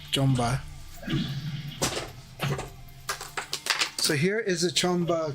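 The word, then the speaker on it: Qanba: I did get a Chamba or Kwamba as you call it, but Chamba is actually what it's pronounced, Chamba.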